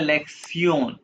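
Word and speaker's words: Lektion: आप पढ़ोगे इसको लेक्शन ये टी आई ओ एन को प्रोनाउंस करते हैं जर्मन सयन तो ये क्या बन गया लेक्सन लेक्सन वन वन को जब हमें क्या कहते हैं?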